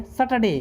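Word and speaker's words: Saturday: पढ़ते समय पढ़ देते थे सैटरडे, तो सैटरडे नहीं होता, आर साइलेंट रहता है उसमें, तो क्या पढ़ेंगे? सैटरडे।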